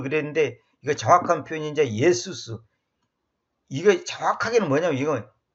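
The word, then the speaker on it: Ἰησοῦς: 예수수가 E, 에, 수 이렇게 하니까 조금 아무래도 이제 조금 그 말이 길어지니까 이제 발음상 우리가 빨리 하면 예수스 이렇게 된단 말이에요.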